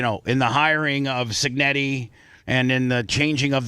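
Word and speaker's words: Cignetti: attributing Indiana now listen Curt Senetti is that how you say his name uh signetti signetti obviously is probably the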